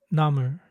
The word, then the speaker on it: 나물: 나물, 나물. Just like how the English L at the end of a syllable is pronounced with the tongue staying in contact, not snapping off.